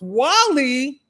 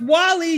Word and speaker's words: Guale: This This says the guale pronounced Wall-E. It's pronounced Wall-E, y'all.